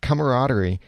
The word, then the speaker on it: camaraderie: this camaraderie camaraderie I I actually learned from the dictionary today that there's an extra syllable in there that's supposed to be pronounced but this camaraderie I love that we